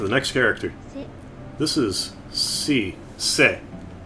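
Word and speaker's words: し: It's a consonant followed by a vowel and makes up a single syllable. You pronounce this as si.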